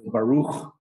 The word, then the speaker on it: Baruch: And again, at the end, it's almost always a kh sound at the end. Baruch at the end of the word is always this letter.